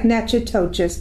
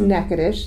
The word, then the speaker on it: Natchitoches: dot com negative and it so it's like nachotochis but it's a naked ish that's how you pronounce it exactly uh dot com and from